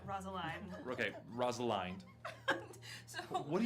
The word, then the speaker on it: Rosaline: Alva, a beautiful half-orc, burly woman, and also Rosalind. Rosaline. Sorry, fuck. Think beginning of Romeo and Juliet. Rosaline.